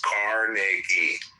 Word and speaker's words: Carnegie: Well, pronounce his fucking name right. It's Carnegie.